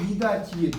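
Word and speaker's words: 미닫이: 근데 이걸 미닷인데 이걸 발음할 때 미다지예요.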